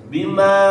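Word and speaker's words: بماءٍ: Bima'in a huruf halqi ya, tenggorokan ya. Jangan mengikuti atau menyerupai huruf mad yang dipanjangkan.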